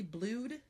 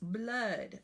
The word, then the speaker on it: blood: a question for you is this word really blued he got hurt and there was blood all over the place wow that's right it's blood but we expecting this